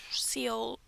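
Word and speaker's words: Seoul: I don't think it's just soul, but I do not speak Korean. It's like soul.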